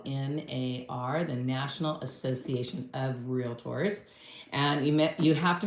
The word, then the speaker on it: Realtor: you become one because a lot of people say real tors with a A in there no a in there it's real tour got it national Association